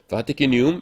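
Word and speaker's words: vaticinium: 이거를 라틴어 전문 용어로 바티키니움 엑스 에벤투라고 합니다. 이거 바티키니움이라고 읽어요. 시니움이라고 안 읽고 그냥 참고로 알아두십시오. 라틴어에서는 K가 없어요. 그래서 C가 K를 대신합니다.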